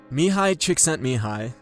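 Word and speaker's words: Mihály Csíkszentmihályi: MIHALY CSIKSZENTMIHALY, and that's by the way how you say his name, dedicates a big part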